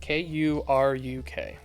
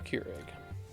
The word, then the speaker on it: Kuruk: How do you spell that? Kuruk. Here it is. Avatar Kuruk. Avatar Keurig.